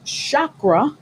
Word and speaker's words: chakra: And the chakra, did I say that correctly?